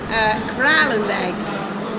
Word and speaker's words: Kralendijk: Kralendijk.